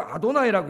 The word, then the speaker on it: 아도나이: 유대인들은 여호와라고 읽지 않고 아도나이라고 읽어요.